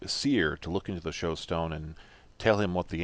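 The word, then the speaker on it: shewstone: When I wrote that, what I realized the engine oil was to me, I took it as being a showstone, or maybe it's shoestone because it's spelled S-H-E-W.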